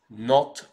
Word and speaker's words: Nantes: ville je vous emmène on va bien sûr à Nantes non on prononce non ça fait Nantes en français et maintenant pour la